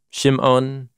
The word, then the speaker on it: Shimon: Reuben, Shimon, Levi, or Levi in Hebrew, Yehuda, Judah, Yisachar, Zebulun, Benjamin, Dan, Naphtali, Gad, or Gad, and Asher.